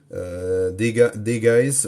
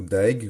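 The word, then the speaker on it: Dagaz: Alors ça, c'est cette rune-là, c'est Degais ou Daeg, on la prononce comme on veut, c'est celle de l'éveil et de la conscience.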